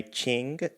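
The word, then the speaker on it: Qing: this wonderful new art this was created by ching it is spelled q-i-n-g and they did such an amazing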